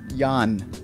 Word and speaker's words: Jan: in time corrected that his first name is pronounced Jan.